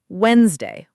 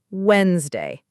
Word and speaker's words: Wednesday: Let's start with Wednesday, which we already touched on. Correct pronunciation, Wednesday, not Wed-nes-day.